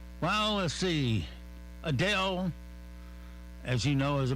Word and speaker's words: Adele: class without us all right well let's see Adele as you know is a big time singer